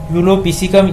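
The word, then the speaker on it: Epulopiscium: इसका नाम है यूलोपिसिकम। ये पी यहाँ से हम इसको साइलेंट करेंगे।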